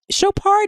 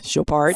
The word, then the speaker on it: Chopard: people I mean you you know shopart is like it's is it's probably F yeah French cuz shopart sounds right um they make they